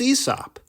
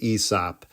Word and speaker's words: Aesop: been saying out loud, "It's not Asop, it's ESOP." Well, even how you pronounce his name is controversial and unknown. I've always pronounced it Asop. My father, he pronounces it Esop.